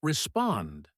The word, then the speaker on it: respond: The word respond has stress on the second syllable.